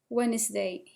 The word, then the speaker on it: Wednesday: Next we will have Monday, Tuesday, Wednesday. The D here is silent.